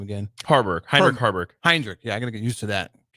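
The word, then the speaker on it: Heinrich Haarberg: Like if Sims is struggling, then you can insert how you pronounce his name again? Heinrich Harburg.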